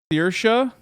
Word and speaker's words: Saoirse: Saoirse? Like there's just, it's so hard for me to understand or pronounce it.